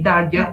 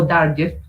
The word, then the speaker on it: Darger: Y Henry Darger es un señor, o Darger, lo pronuncian de diferentes maneras, es un señor que